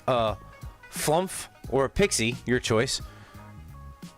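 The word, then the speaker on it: flumph: Oh, is that anamanopia or a word sounds like uh sounds like it's spelled or spelled like it sounds like flump or slough?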